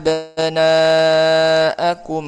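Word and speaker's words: أبناءكم: Cara baca dipanjangkan empat atau lima harakat. Contoh ya yudzabbihuna abnaakum waastahyuna nisaakum.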